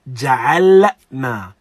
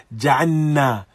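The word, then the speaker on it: جعلنا: He said, be cautious and clear about pronouncing the lam in ja'alna. Because oftentimes we do hear ja'anna, waja'anna, waja'anna, waja'anna al-layla libasa.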